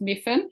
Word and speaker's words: Myfan: It's just to let you know, it's pronounced Myfan.